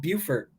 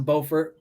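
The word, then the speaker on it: Beaufort: the same person right South Carolina has a bower but it's called buurt and North Carolina has a bordt they're both spelled the same both named after the same person just pronounced differently if you move to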